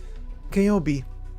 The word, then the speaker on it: Kobi: In standard pronunciation, this would be... K-O-B. Kobi.